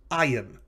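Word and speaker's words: ַיִם: is the masculine plural this is i am so the uh the the accent is on the second to last syllable which is not characteristic of hebrew that syllable will have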